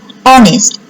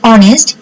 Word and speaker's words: honest: And to pronounce the word honest, you have to need a vowel sound. That is a sound like O. Yes, like your vowel sound. That's why you have to use N. Honest, honorable, silent H.